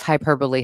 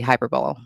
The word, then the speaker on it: hyperbole: The Yeah, the background on Hyperbowl is I pronounce Hyperbole Hyperbowl. Because the word can be pronounced either way.